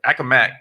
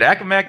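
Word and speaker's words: Accomack: originally from i had to check this the pronunciation on this earlier akka mac that's right all right all right akamak county on virginia's beautiful eastern shore hearing degrees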